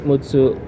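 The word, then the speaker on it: むっつ: stress on the second we have a stress on the second syllable M mutsu mutu so how do I know I have the stress on the second syllable because of the consonant doubler the two yeah so the consonant doubler is the two two so Mutu so Kun reading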